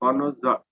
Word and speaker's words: connoisseur: Spellings are CONNOISSEUR. Connoisseur. Connoisseur, but R is silent. It is just pronounced as connoisseur.